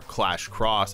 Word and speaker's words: Clash X: Indie Clash, formerly known as a reboot of Clash X or Clash Cross as it's pronounced, had a lot of